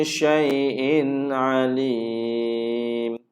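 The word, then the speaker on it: شَيْءٍ عَلِيمٌ: Syai'in alim. Tanwin bertemu dengan ain, ain kan izhar. Okey? Ain kan izhar. Ni ain. Sekarang ini tanwin bertemu dengan ain, maka cara baca izhar. Jadi kita tak boleh dengung dekat sini.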